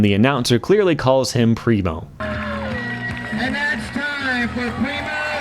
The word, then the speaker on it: Primo: For some reason, almost every German skater I come across pronounces the I as in rhino.